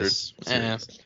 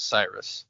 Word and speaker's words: Sirius: It's spelled like Sirius Black, Sirius not 3100. like Sirius. Yeah, that's another name in Harry Potter. When I first read it, I thought it was Cyrus.